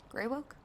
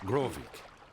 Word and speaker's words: Grovik: So, do you think we'll find your Betty in, All right, what did you pronounce call this ool village? like Gravewick? pool without the P. Groovewick? Greywoke? It's not. Grovik. Yes. Grovik!